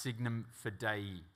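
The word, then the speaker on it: signum fidei: And if you look down now on the crest of your uniform, you will see an old Latin phrase that is pronounced signum for day.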